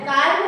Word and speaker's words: calm: अब CALM काम होना चाहिए, लेकिन ये काम, मम्मी है, हम नहीं बोलेंगे, एल को नहीं बोलना है यहाँ पे, एल प्रोनाउंसिएशन नहीं करना है। CALM काम, ठीक है, समझ रहे हो?